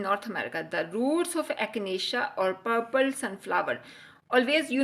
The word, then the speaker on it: echinacea: So, it is the pronunciation this word is echinacea.